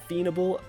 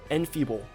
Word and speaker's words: enfeeble: At level 9 he gets Fiendable, bro, I'm not even gonna, Enfeeble, that's how you say it.